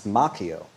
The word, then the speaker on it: Macchio: Daniel's son uh played by Ralph Macchio, which is actually the Italian may pronounce Macchio, but I believe he pronounces it Macchio, and I'll respect his decision.